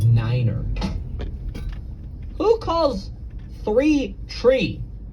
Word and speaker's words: niner: You know, pilots are supposed to pronounce numbers in a really funky way. Like you're supposed to say tree instead of three. You're supposed to say five instead of five. Uh, and then nine is niner.